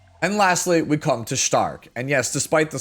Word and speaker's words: Stark: And lastly, we come to Stark. And yes, despite the spelling, that is how you pronounce it.